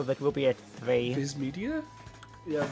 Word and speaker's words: Viz Media: Viz Media. Yeah, Viz Media. It's pronounced with an E, but it's spelled with an I.